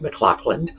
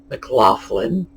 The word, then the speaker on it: McLaughlin: people with names like mclaughlin which is in that case pronounced mclaughlin or mclaughlin same name same gh different pronunciation and this comes down to us as that hard k sound the the uh scottish ch mclaughlin or mclaughlin as in the f for laughter these sounds have come